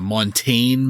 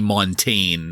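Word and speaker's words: Montagne: this correctly Montague Mont it's some kind of weird French name in Beaumont Texas isn't that a name for my Shakespeare Montague no montane maybe I think it might be montane is the correct way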